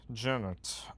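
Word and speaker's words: Genet: character who is named Jennet. Uh which is spelled ge ne just like the playright but the t is actually pronounced.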